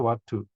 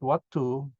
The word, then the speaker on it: Vatthu: So this word Vatthu is seen as in Sanskrit vastu, and the Thais have a way of pronouncing as as ending. They don't pronounce it as they pronounce S as D, so become Vatthu.